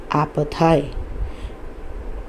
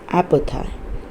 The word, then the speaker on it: apartheid: दक्षिण अफ्रीका में एक बहुत ही क्रूर प्रथा थी, ब्रूटल प्रैक्टिस, क्रूर प्रथा थी, जिसका नाम था apartheid. ये apartheid या ऐसा नहीं है प्रोनाउंसिएशन, इसका प्रोनाउंसिएशन है apartheid, जो कि बहुत ही ज़्यादा प्रचलित थी उन दिनों में।